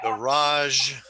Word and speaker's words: garage: garage.